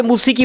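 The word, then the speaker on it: موسیقی: मैं माफ़ी चाहता हूँ, मौसीकी जो है रॉन्ग लफ्ज़ है, इसका असली लफ्ज़ है मूसिकी। हिंदुस्तान के उर्दू वालों ने और मुसलमानों ने इसका प्रोनाउंसिएशन गलत कर दिया है, बिगाड़ दिया है। इसका सही ट्रांसलेशन मौसीकी नहीं है, मूसीकी है, याद रखिएगा।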